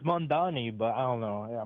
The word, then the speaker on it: Mamdani: We're just trying to wrap up with the Mamdani thing.